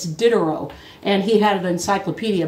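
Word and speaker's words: Diderot: 18th century go to dinner Rose encyclopedia it's spelled d-i-d-e-r-t no d-i-d-e-r-o-t the t is silent it's dinner and he had an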